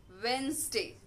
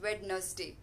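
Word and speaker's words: Wednesday: First word is वेंसडे। We read it एज वेडनसडे। वेडनसडे बिल्कुल ही गलत pronunciation है। इट्स वेंसडे, वेंसडे।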